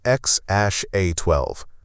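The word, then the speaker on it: X Æ A-12: Musk has said the intended pronunciation is X Ash A12.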